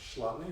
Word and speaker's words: Chladni: of you might be I think it's pronounced Lonni or Chladni figures you take a